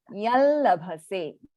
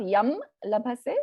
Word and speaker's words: yallabhase: This would be pronounced as yallabhase, yallabhase. Not yam labhase, but yallabhase. Yallabhase.